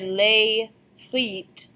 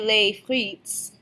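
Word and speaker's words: les frites: more than one since we don't pronounce the S on the end of the word so you here lay fleet we don't say lay fleets delay is the only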